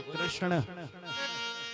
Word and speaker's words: कृष्ण: कृष्ण नाम टेढ़ा है, बोलो कृष्ण, बोलो कृष्ण। अणंग बोलो, अणंग। यमगणना नाम नासिका च या गण, इनका उच्चारण में नासिका से होना चाहिए, पाणिनि जी कहते हैं या गण।